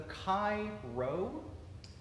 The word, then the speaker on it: Chi Rho: but it's but it but it is pronounced as an R and the Chi Rho